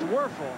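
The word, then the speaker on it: Wuerffel: want to spell his name for you, folks. W-U-E-R-F-F-E-L. Might as well get used to it. Pronounced Werfel, huh?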